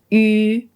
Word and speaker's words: yu: Now that you know this, when you pronounce this spelling, remember it's yu, yu, just one sound. It's not you, you. This is wrong. It's just one sound. Yu.